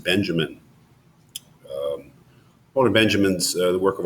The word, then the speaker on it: Benjamin: Well, not much help I can be in explaining Walter Benjamin or Benjamin, however you want to pronounce it. I will pronounce it Benjamin.